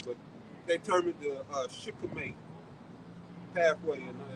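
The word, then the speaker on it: shikimate: You know, he got to name everything, but they termed it the Shikhamate pathway, and it's spelled S-H-I-K. I think it's A-M-A-T-E. It's Shikhamate pathway, and that's important pathway.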